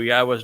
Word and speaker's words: Yahowah: reading from the book that introduced us to yahwah's name the book that told us how to pronounce yahwah's name the book that told us